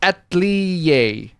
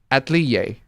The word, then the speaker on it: atelier: It's pronounced atelier. Atelier.